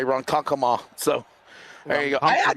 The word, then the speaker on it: Ronkonkoma: Yeah, I need to learn how to say Ronkonkoma. So there you go. I did it. Thank you. I said it right. Ronkonkoma.